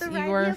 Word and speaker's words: Igor: Pronounce Igor's name as Eigore from Mel Brooks Young Frankenstein.